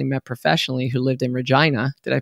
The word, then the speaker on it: Regina: that I actually met professionally who lived in Regina. Did I pronounce that right?